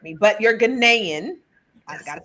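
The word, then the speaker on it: Ghanaian: Last night I said Ganaian and she had to correct me, but you're Ganaian.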